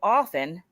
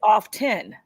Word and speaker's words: often: is silent and instead instead of saying often where the T is silent they say off 10 and I kind of